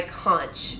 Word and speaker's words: conch: Moving on to my next one would be this, my conch piercing, which I always want to call conch because it's spelled like that.